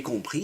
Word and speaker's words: compris: And this time it takes, but the s is silent. So compris is your way to say, "Oh, I understood."